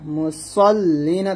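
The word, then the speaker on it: المصلين: এখানে সদের উচ্চারণটা যেন কোনো ভাবে সিন না হয়ে যায়, এটা সদ মোটো করবেন ফাওয়াইলুল লিল মুসাল্লিন।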